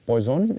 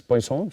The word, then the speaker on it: Poisson: And, generally the pronunciation is ah not Poisson it is Poisson generally it is it is a French name it is ah pronounced as Poisson.